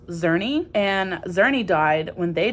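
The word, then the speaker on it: Czerny: him and his friend I think it's pronounced xery and xery died when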